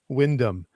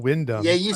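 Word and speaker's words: Wyndham: time is John Windham, but I didn't call him Windom until about a year or two ago. And I had so many people correct me because I said wind ham. And so all my British viewers said, "You got that wrong." I mean, he's a great author, but you got to say Windom.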